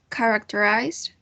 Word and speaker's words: characterize: second one is uh characterize these words have four syllables and here is the transcription the stress syllable is the first one characterized um then we've got